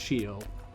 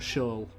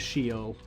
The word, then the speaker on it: Sheol: because it is pronounced sheol i did learn that recently it's not show it is sheol which to me sounds